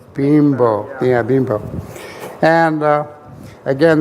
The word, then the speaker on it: Bimbo: to pronounce that correctly it's not bimbo all right no but it's bean bro Ryan ro but that's correct that it's bean bow yeah being properly and